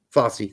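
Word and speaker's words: Fossey: Brandon Craig maybe maybe yeah maybe Marlon Fosse Fosse thank you yeah okay yeah you started to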